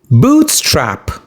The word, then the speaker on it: bootstrap: Bootstrap. You stress the first syllable boot.